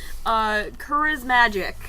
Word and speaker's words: Charismagic: Charismagic. Nailed it! In one! Yeah! Woo! Pun off of charisma and magic.